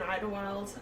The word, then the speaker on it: Idyllwild: w i l d so it's not how you would phonetically spell it but it is yeah okay um and then we're just up uh on North Circle in Idlewild um right outside like